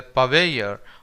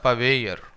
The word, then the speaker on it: purveyor: Our last word for this lecture is purveyor. Now here you can actually silence the last R, or if you want you can pronounce that last R as well. So you can say either purveyor or purveyor.